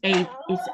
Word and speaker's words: Ava: But I've also heard the EVA is said Ava or over here anyway. It's Ava instead of Eva.